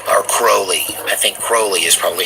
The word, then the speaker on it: Crowley: was really started by a guy named Aleister Crowley or Crowley I think Crowley is probably how most people pronounce it Rowley was considered the most wicked